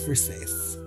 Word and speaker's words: Versace: Some of you haven't pronounced it Versace and shows. I love that meme. It's Versace.